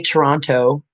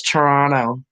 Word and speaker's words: Toronto: I know I say Toronto, and people are like, it's Toronto. Toronto. That's how Canadians pronounce it.